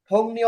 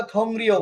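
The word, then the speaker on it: 동료: আবু রাসেল বলেন, থংনিও অর্থ কি? বুঝিনি। থংনিও। সংগ্রহ মানে সহকর্মী। আপনি পড়ছেন হয়তো থংরিও, কিন্তু এটা থংরিও হবে না। ইয়ং এর পরে যদি রিয়ল থাকে, রিয়লটা না উচ্চারণ হবে, হবে থংনিও।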